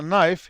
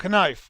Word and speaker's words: knife: عندنا باللغة الإنجليزية مثلا نايف يكتبوها KNIFE، كي موجودة بس لا يلفظوها، بس ما في هناك أي إشارة تعلم القارئ أنه لا تلفظها. ممكن واحد يدور مرة يشوف إنجليزي يقول لك كنايف، بس واحد يضحكون الإنجليز عليه لأنه كي لا تلفظ.